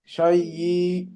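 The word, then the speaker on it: شيء: শাই শাই না, শাই, শুধু হামজার উচ্চারণটা হবে শেষে।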